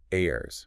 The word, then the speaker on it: they're: Now, while the clearer sort of dictionary pronunciation is a her, in rapid informal conversation, it's extremely common to hear it reduced right down to airs. Air. Yeah, airs. A sound that's practically identical to how we usually pronounce there, meaning the place, or there, the possessive.